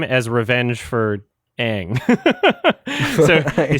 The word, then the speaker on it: Aang: Like let's say the main character's name wrong. That's the one thing we're gonna get right is saying it wrong. Make him say Ung.